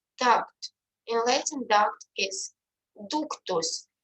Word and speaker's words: ductus: In Latin, duct is ductus. You can see that letter U is pronounced like U.